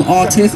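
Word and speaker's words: RTIZT: I am Artith on Twitter, which is R-T-I-Z-T. Do not spell it A-R-T-I-S-T, that's wrong. It's R-T-I-Z-T.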